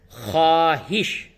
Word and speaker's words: خواہش: اس میں دیکھیے، جو واو ہے، یہ واو کو لکھا گیا ہے لیکن واو کو پڑھا نہیں جائے گا۔ تو اس کا جو